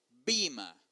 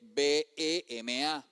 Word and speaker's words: bema: los Corintios 5:10 es la palabra griega bima y así se pronuncia Bima. Yo sé que al transliterarlo se escribe B e M a bema. Pero esa e tiene un firulete.